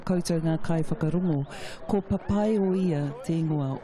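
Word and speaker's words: Papaioea: Tēnā koe Mark, kōrua ko Rhys, ai o te rā koutou ngā kai whakarongo, ko papai o ia te ingoa o Palmerston North.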